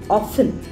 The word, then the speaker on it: often: It is not often, it is often. T goes silent, so it is often.